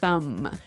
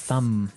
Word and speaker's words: thumb: No, I actually only pronounce the M, the Yes. thumb.